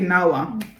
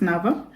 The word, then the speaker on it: NAWA: W is V. So it's pronounced as V. So NAWA, it's, as a Kenyan, you would say NAWA. Yeah. NAWA. But it's NAWA.